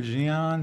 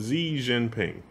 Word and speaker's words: Xi Jinping: is his name Jing or Jian or I'm not sure how to pronounce it. Xi Jinping. Xi Jinping? Oh yeah, and he does look a lot like Winnie the Pooh.